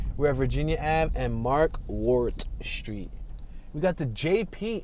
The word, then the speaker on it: Markwardt: It's spelled MarkwardT. I guess the D silent, Mark Wart. But part of me wants to say Mark Work did.